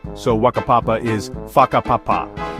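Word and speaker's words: whakapapa: The WH is pronounced like an F. So, waka papapa is faka papapa, not waka papapa.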